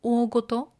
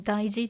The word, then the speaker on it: 大事: So this is not 大事, but this is 大ごと. Okay, there's no hiragana here, but it is pronounced 大ごと. It is different from daiji.